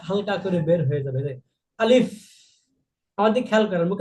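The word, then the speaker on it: ألف: উচ্চারণ যখন হবে আলিফ এই আলিফ বলতে কোন টান হবে না কিন্তু এই শেষে এই মুখের মাঝখান থেকে একটা বাতাস হালকা করে বের হয়ে যাবে আলিফ আমার দিকে খেয়াল করেন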